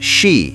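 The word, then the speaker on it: 四: The tunnel is haunted by the symbolism of the number four, pronounced she in Japanese, which also means death.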